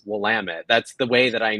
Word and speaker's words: Willamette: Thank you for knowing how to pronounce Willamette.